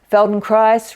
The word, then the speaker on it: Feldenkrais: to a taster of Feldon Christ feel free to find a place to lie down on the floor and join in Feldon Christ rhymes with Paradise one of the things